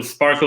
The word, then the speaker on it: SPRK: Right, so we made a little sparkle in the middle, and it's spelled SPRK, and it's, you always have to explain, like Spark, right?